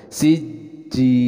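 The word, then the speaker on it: سجيل: harus disertai dengan ghunnah siji ada penekanan dalam huruf Jim karena ini bertasydid tapi kita akan baca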